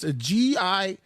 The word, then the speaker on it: Giulia: I think it is Julia. It's spelled with a G though.